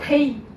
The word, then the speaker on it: Thi: So, correctly pronounced? Whatever you want, sure. Thi.